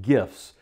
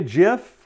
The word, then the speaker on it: GIF: post getting people's attention is animated gifs proper pronunciation is just not gifts jiff stands for graphics interchange format pictures these are